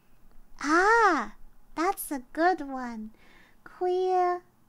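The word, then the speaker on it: khuya: night or midnight ah that's a good one queer it's really spelled like k-h-u-y-a that's how you spell it queer is midnight queer guy queer midnight or night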